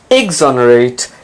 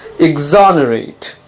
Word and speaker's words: exonerate: mendacious mendacity mendacious mendacity exonerate notice the stress is on the second syllable it's not exonerate it's not exonerate it's exonerate it can have two